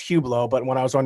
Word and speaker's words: Hublot: little bit about this watch is uh it's pronounced hublot but when i was on your show i pronounced it cube lots we'll tell you about why i got this